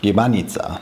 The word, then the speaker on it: gibanica: So apparently what I said in the beginning is completely wrong. That syllable is actually short. Gibanica.